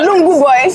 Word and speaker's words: Lungu Boy: Let's pronounce the name of the album, Sef. MMS. No, Lungu Boy.